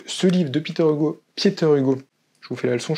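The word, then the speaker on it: Pieter Hugo: vous qui onuront viné qu' on parlait de pietter Hugo alors pas Pieter pietter Hugo c'est important et pour une fois je sa prononcé son nom on va parler de deux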